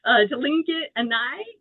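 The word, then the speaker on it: Lingít Aaní: Alexander Archipelago in I don't know how to pronounce it. I know you can help me out. Tlinket-Ani?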